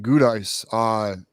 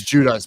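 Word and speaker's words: Giudice: But so regarding Dominic Gudice, wait a minute. That's how you say it, Gudice? It's Judice. My bad.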